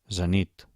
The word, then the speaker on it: zenit: Comencem per les agudes, intentem pronunciar-les. Un moment abans que ho digui jo. Xofer, oboè, alfil, zenit, futbol, el Tibet, els Carpats.